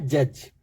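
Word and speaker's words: judge: देखते हैं, जैसे फर्स्ट वर्ड हमारा है जज, तो हम जज बोलते हैं तो उसमें डी का प्रोनाउंसिएशन नहीं आता है।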